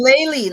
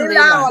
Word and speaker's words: Layli: Layli is Layli, not Leila.